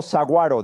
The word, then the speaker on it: saguaro: Vi rocas y vi algo que me tomó un tiempo pronunciar correctamente, llamado saguaro, ¿de acuerdo? Aunque veo una G ahí, nunca la pronuncio correctamente.